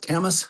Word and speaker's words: Kamas: So, uh was it pronounced camas storage or for anybody out there that wants to know how do you pronounce that there, sir? It is just that Camas storage.